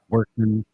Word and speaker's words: Workman: all one word jks Workman Workman spelled like it sounds sounds yeah just like